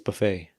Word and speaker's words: buffet: We never finished the buffet thing, but it's buffet. Yeah. Yeah. It's not buffet. It says that the tea is silent.